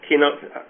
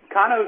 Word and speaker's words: Kano: you pronounce that uh Koo is the way I heard it first uh when I was introduced to it over in Japan so I'm guessing it's right since and can you